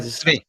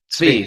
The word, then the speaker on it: Tzvi: And today I'm joined with Tzvi, is how you usually pronounce that? Tzvi. Tzvi.